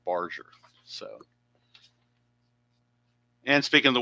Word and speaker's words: Barger: I've been calling him Addison Barger. It's actually the G is actually soft. It's Addis. Add Addison Barger is how the announcers gave his name. So, his name is Barger. That is his name. Barger.